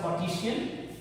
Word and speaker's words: Cartesian: But you should, in the name you should read as René Descartes. But here it should be pronounced as Cartesian system.